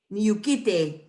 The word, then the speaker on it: Niyukite: Niyukite, all of us, Niyukite. So you have that H before the K, Niyukite. And when you have the, the whole like Y-U-H-K, it's not too hard to pronounce.